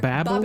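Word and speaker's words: Babbel: Not the one with the owl, the other one, Babel or Babel as it's pronounced in the original German because this company was also founded in Berlin, Germany in 2007.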